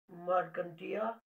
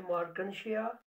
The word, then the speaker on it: Marchantia: और liverworts में हम पढ़ेंगे मार्कंटिया और कुछ लोग बोलते हैं मार्कनशिया। आपकी मर्जी कैसे प्रोनाउंस करेंगे इसको आप।